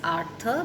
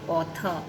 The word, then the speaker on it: Arthur: you pronounce words correctly the word is artha because this is the name of a person it is not author author is one who